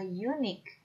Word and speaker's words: unique: Next, the word unique. We see a U as a vowel, but we hear sounds consonant sound yo or U using Y. So it must be a unique and not an unique.